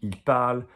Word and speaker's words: parlent: And then you come across ANT, and ENT is silent, silent.